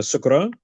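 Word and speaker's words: شكرا: There's shukran. You can say that, or you can say shukriya, which is also like Urdu for thank you. So you can say shukran, or you can say shukriya.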